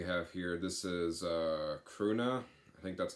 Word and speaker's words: Krvna: it's spelled k-r-v-n-a so usually when it's like that it's usually pronounced croona and then they just add the V instead of the U but like I said